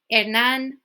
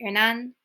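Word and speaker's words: Hernán: I couldn't tell you, but you just drop it, it's silent. Hernan, like a name, Hernan.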